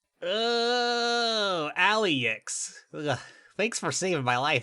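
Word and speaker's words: Alyx: That's Alex spelled A L Y. Oh, Aliex.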